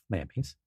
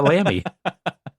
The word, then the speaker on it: Lamy: I mean, I can't afford Nauti, so I I have a Lamy. Yeah, four letters, two syllables.